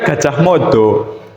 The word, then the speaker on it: Gajah Mada: Gajah Mada itu bacanya gajah modo, Bu. Kenapa enggak gojoh mada atau gojoh modo semua?